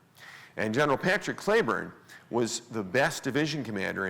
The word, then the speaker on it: Cleburne: and by the way his name is spelled exactly like the town of Cleburne Texas which is named after him but he pronounced his name Clayburn and General Patrick Cleburne was the best division